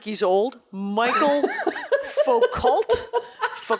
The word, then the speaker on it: Michel Foucault: the way who is this person this is Michel Foucault Oh Michel thank you my pronunciation was not correct but definitely better than